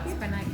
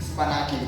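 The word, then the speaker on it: σπανάκι: In Greek, honestly, I don't know how to pronounce that. Spanati. Spanaki.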